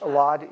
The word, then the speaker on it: Elad: a favor, give me the spelling of your first and last name, your title, and pronunciation. You can sit right next to him. Sure. You wouldn't be in the shot. Elad, E-L-A-D, L-E-V-Y, and I am the chair of UB Neurosurgery.